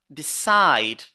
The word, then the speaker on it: decide: is also a verb decide decide you see also here we say decide so we focus on the second syllable decide decide then we have another